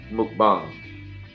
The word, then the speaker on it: mukbang: window and look up mukbang ei ng apparently it's it originated in Asia Korea you say correct yeah initially pronounced mcbomb and you can be